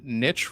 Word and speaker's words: niche: you know what uh Niche rhymes with Rich which is kind of